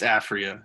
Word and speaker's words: Aphria: Euphoria, So and is that how you pronounce it? Euphoria? it's Aphria. I think he pronounces it Euphoria, but I don't know if you read it.